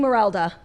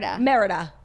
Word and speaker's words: Merida: It's giving Merelda. What do we say her name is? Merida.